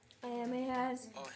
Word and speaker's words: Ahimaaz: So the watchman said, "I think the running of the first is like the running of the How to pronounce Ahimaaz? Ahimaaz, the son of Huh?